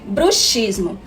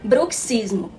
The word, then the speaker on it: bruxismo: ranir os dentes chama-se bruxismo embora essas duas palavras sejam escritas da mesma maneira ambas com a letra x a pronúncia muda de acordo com o significado então ao nos referirmos